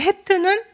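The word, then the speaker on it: ח: 그리고 음가가 히읗과 키읔 두 개가 써 있죠. 어떤 때는 히읗이고 어떤 때는 키읔인데 주로 그냥 히읗으로 발음 날 때가 많은 것 같아요. 근데 키읔으로 나오는 경우는 그렇게 드물었던 것 같아요. 그래서 이 해트도 이제 히읗으로 알고 있으면 무난하고요.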